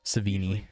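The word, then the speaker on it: Chloë: Savini. See it pronounced Savini.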